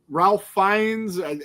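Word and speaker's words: Ralph Fiennes: had like parts of Ralph Fines. That's how you say his name. It's it's it's spelled Ralph, but it's something else.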